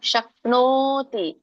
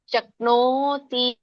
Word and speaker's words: ಶಕ್ನೋತಿ: ಉಚ್ಚಾರಣೆ ಹೇಗೆ ಬರುತ್ತೆ ನೋಡೋಣ ಶಕ್ನೋತಿ ಓಕೆ ನವತ್ತಿದೆ ಮತ್ತೆ ದೊಡ್ಡ ಓ ಸ್ವರ ಕೂಡಿದೆ ಶಕ್ನೋತಿ ಮಾತಾಜಿ ಕೇಳಿಸ್ತಾ ಇಲ್ಲ